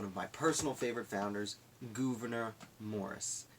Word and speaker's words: Gouverneur: my personal favorite founders governor Morris now I believe it's pronounced governor I've heard a pronounced governor I've also heard a pownce govern or so I usually say governor cuz that's how I read it 15 years ago